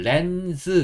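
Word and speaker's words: lens: 어 여기서는지 소리보다는 어 영어 원어민들은 S 넣어서시오 소리 렌즈 이렇게 좀 소리를내는 경향이 있어요 그래서 S 적을 겁니다 그래서이 S 즈즈 약간 이런 소리 그래서 좀 비슷하잖아요 스즈 비슷하잖아요 그런 소리를 낸다고 보시면 되고 그래서 그래서 영어에서는 렌즈를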